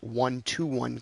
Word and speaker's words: 1:1: It's written as 1:1, but it's pronounced 1-to-1 copy.